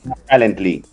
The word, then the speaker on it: Talently: Él es cofundador de la empresa Talently. ¿Se pronuncia así? ¿Cómo se pronuncia, Cristian? Hola, Miguel. Hola, sí, hola. Perfecto. Talently.